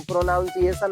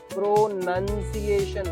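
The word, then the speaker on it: pronunciation: प्रोनाउंसिएशन कह रहा हूँ, प्रोनाउंसिएशन नहीं कह रहा हूँ। ज्यादातर गधे ऐसे ही पढ़ते हैं। क्या प्रोनाउंसिएशन? इसका प्रोनाउंसिएशन नहीं होता है, प्रोनंसिएशन होता है।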